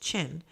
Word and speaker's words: Qin: The empire took its name from the Qin, pronounced Qin, to become China.